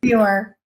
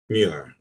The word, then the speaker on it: Muir: What is the right pronunciation? Muir. Muir.